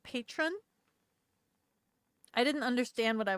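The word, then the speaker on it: Patrón: The accent is on the bottle. It wasn't in the script, I think. Spanish. It's Spanish.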